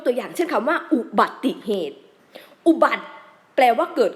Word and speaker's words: อุบัติเหตุ: นี้ มา รวม กัน เรา ต้อง อ่าน ว่า อุบัติเหตุ อุบัติเหตุ ออก เสียง ติ เสียง ติ ซึ่ง เป็น เสียง สระ อิ เนี่ย ค่ะ ตรง กลุ่ม กลาง